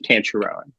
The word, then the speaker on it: Tancharoen: Well, it's just to pronounce it correctly in the Thai way is very different, but here in the U.S. it's just pretty much Tancharoen.